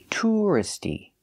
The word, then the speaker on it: touristy: describe an area I say touristy keeping the stress on the first syllable touristy this is a touristy